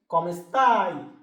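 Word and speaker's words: come sta: তুমি আপনি কেমন আছেন এটাকে আমরা ইতালিতে বলি কমেস্তা উচ্চারণটা সঠিক ভাবে করবেন বলুন তো কি কমেস্তা কমেস্তা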